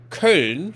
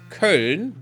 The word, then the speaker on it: Köln: to, I don't know, anything else, you know, Köln, for example, which is this is Köln. They're Köln. It's not Cologne. That's wrong. It's not the name. It's just some English nonsense that they made up. It's Köln.